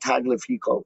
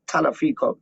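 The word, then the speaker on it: Tagliafico: to pronounce that right it's not toddler pico it's ton of people she's silent straight up all right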